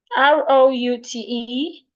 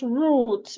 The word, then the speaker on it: route: R O U T E. It can be pronounced root British pronunciation or route American pronunciation.